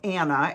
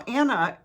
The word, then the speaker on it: Anah: Now, Anna is spelled A-N-A-H.